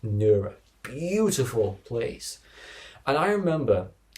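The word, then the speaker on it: Nerja: It's spelt Nurja, but it's pronounced Nura.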